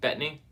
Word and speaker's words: Bettany: It's hard to pronounce his name. Paul Bettany. Is that how you say it? Bettany.